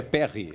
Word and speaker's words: Perri: Lucas Perry né É é Lucas Perry ou é Perri uma pronúncia correta não me lembro certo não o meu anjo da guarda tá dizendo que é Perry é Perry Perry Então